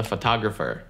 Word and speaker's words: photographer: Фотограф — это photographer. Это слово photograph. Photograph. Photographer произносится чуть по-другому. Зацените. Photograph. Фотография. But it's not a photograph. Photographer. Разное ударение.